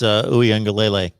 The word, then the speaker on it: Uiagalelei: So I believe it's Uiagalelei. But To'o is how it's spelled there, with the T-O apostrophe O times 2.